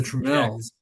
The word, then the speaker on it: Tramiel: The home console division got you know picked up by by the founder of Commodore, the Tramiels.